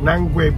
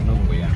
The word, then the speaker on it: Nungwe: Finished taking a tour in Old Town, and we're about to go to Nangwe Beach. Am I saying it right? Yeah, Nungwe. Mr. Chief is teaching me how to. Nungwe. Nungwe. Yeah.